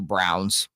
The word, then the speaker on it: Braun: Green and the 2 Browns, although his name's spelled Braun. It's pronounced, it's so weird.